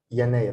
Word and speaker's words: يناير: The first month is Yanayr. Yanayr. Yanayr is January. Yanayr. Yanayr. And the next one is February. February. February. So Yanayr. Yanayr, I have here Ya, and then short vowel Yana, Noon, Yanayr.